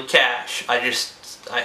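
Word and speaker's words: cache: say wi your C it's actually cash I just I said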